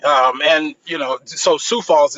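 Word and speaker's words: Sioux Falls: Um and you know so Sou Falls is how you pronounce it by the way.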